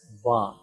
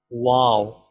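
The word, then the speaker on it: و: letter is wow wow most people pronounce wow as ba remember va is wrong do not read ba the real pronunciation of this letter is wow make your lips round shape and you can pronounce easily by making your lips in round shape wow wow wow next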